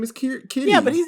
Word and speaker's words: Kiri: So Kiri, Sigourney Weaver's character, it's pronounced Kitty.